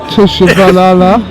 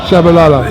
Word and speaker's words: Tshabalala: tell me it was tishala no the the tea is silent it throws a lot of people tell me to call